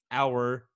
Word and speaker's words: hour: hour this whole time did you know the h was silent hour okay you got me